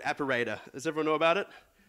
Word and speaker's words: Appirater: But the golden standard for a long time has been this thing called Apparator. Does everyone know about it? Or one of my friends calls it App Pirater, because that's how it's spelled.